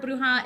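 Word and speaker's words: bruja: familiar with the word bruha it is spelled b r u j a s so the J makes that H sound and it's on the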